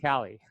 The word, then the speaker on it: Kaylee: I have a friend, her name is spelled exactly the same way as yours, but it's Yeah. pronounced Callie. Yeah, as it should be.